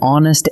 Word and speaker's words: honest: But hour and honest start with a silent H. So what your ear actually catches is a vowel, and that is why they take an.